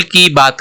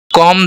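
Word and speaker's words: comb: बालों को कंघी करो कम दहर को दहर इसको कोंब नहीं बोलते हैं यहां पर साइलेंट है सी ओ एम बी तो इसको हम बोलेंगे कॉम कॉम दही और जिस भी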